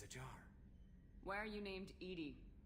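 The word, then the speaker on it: EDI: the airlock is a jar where you named Ed Ed is thetic pronunciation of e that is an acronym for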